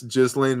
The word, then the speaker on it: Ghislaine: Yes, Ghislaine Maxwell didn't kill herself yet. By the way, I know that it's pronounced Ghislaine, but you spell your name Ghislane.